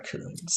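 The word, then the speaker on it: Kunz: you studied with, Dora Coons. Dora Coons, yeah. And she was amazing. Look her up. Just look her up. That's all I'm going to tell. Google her. It's spelled Dora, D-O-R-A, Coons, K-U-N-Z.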